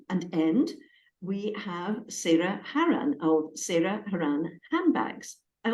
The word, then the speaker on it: Haran: Yeah, Haran, apparently. Haran.